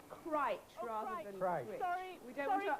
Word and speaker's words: Crich: I think we've been told it's pronounced Crich Oh, rather Crich.